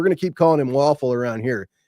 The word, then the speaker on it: Wafle: And we're going to keep calling him Waffle around here. He will never be Luke Welful, which I understand is the proper way to pronounce that name.